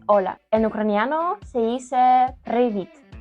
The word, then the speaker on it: привіт: En ucraniano se dice привіт. Привіт. Ahora se toca a vos. Привіт.